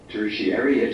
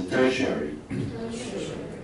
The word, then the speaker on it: tertiary: 啊，听一下，tertiary education。第一个，它的发音很特殊，ti 发什么？很特殊吧？再念一次，tertiary。